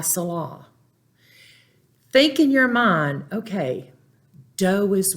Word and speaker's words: mi: Mi, the I is pronounced as a long E.